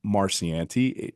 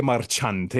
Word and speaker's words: Marchante: Well, one Natalyia Marciante just You said the last name wrong, the last I think you said. Natalyia Marchante. There we go.